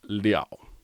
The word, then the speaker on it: 了: He says, in the sentence 吃一个面包饱不了, character L is pronounced liao.